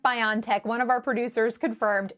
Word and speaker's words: BioNTech: to clear it up i think it's pronounced biontech one of our producers confirmed is that right are we pronouncing your company name right yeah you can you can pronounce it it's biontech or beyondtech so it is it is it is we